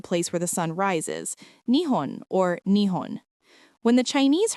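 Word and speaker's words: 日本: And so, we have a country whose very name means the place where the sun rises, Nihon or Nihon. When the Chinese heard this name, they pronounced it Zhuben, which literally means sun root or bottom.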